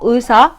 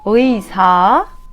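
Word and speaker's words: 의사: like this: “ui” “ui” It’s like I want to say “we” and “i” together A sound close to “ooyi” but we don’t have “oo” I’m telling this that you hear better I say it again “ui” for example “uisa” which means doctor I don’t say “isa” or “oosa” I say “uisa” or “uija” which means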